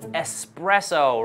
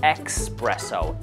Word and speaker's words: espresso: people love drinks with espresso right yes there are so many words in english that have this x like excuse exception so a lot of people say expresso x like x sound